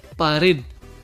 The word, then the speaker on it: pared: Mira esta otra palabra, pared. La sílaba tónica también es la última, red. Muy bien, no lleva tilde porque termina en D.